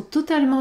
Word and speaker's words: totalement: Les pistes de, les pistes de, les pistes de ski sont totalement vides. Et le E du mot totalement n'est jamais prononcé, puisqu'il y a une consonne prononcée devant.